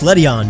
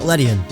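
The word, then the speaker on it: Ledian: Apparently it's Ledion, not Ledion.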